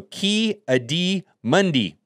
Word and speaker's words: Ki-Adi-Mundi: Anakin this is a very likely option also ki-adi-mundi that's how you say it I don't know